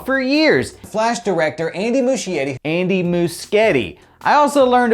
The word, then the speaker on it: Muschietti: flash panel i learned i've been saying andy muschetti's name wrong for years flash director andy muschietti andy muschetti i also learned about the speed